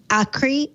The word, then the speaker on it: Akri: I'm not sure I'm pronouncing this one correctly either. It's a day of mispronunciations for me. Akri, A-K-R-I. That sounds Greek. Anybody know? Yes, it is a Greek. Well, then I think name. you're saying it right.